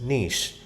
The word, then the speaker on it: niche: So we move to the next ecological niche. This is pronounced as niche.